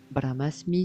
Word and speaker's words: Brahmasmi: le tout Dieu l'univers appelez comme vous voulez bramasmi ça s'écrit B R a h M a s